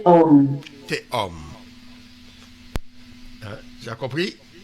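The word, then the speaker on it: תהום: Le tav avec Le tav. le cheval en dessous, ça prononce et. On est d'accord? Mhm. Après, tu as le o. Le vav avec le point. O. Et puis le même à la fin, homme. Voilà. Homme. Ouais, comme l'homme.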